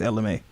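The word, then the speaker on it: Ella Mai: I guess when people pronounce it, they say it so fast. It's Ella May instead of like Ella the back in the day May.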